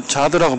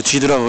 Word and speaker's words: Zuid: 저기 ZUID 이렇게 되어 있는데 여기서 자드라고 발음을 하거든요.